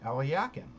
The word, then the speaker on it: Alekhine: The person whom we call Alexander Alekhine, I've heard from a couple Russian sources who say his name was actually pronounced Alyakin, Alexander Alyakin.